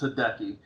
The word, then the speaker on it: Hideki: I believe I butchered the shit out of his first name. So you were so close. It's Hideki. Hideki Suzuki.